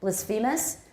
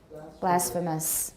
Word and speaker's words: blasphemous: that word a lot actually blisphemus but we say now blasphemous blasphemous next two um acumen i